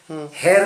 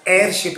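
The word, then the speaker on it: heirship: इसका प्रोनाउंसिएशन बहुत से भाई हेयर करते हैं, लेकिन एच इसका जो है ये सेमी वावेल है, इसका हा ह उच्चारण नहीं होता। एयरशिप है वो, को एयरशिप।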